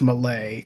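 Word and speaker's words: Mallet Island: go to Malay Island spelled like Mallet but it's Malay cuz it's like Italian or French or something one of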